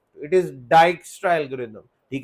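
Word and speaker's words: Dijkstra: अच्छा, इसकी जो प्रोनाउंसिएशन है, इट इज नॉट डिजिक्स्ट्रा, ठीक है जी, ये डाइक्स्ट्रा है। डाइक्स्ट्रा एक डच वर्ड है, मैं पहले इसको स्पेनिश समझता था।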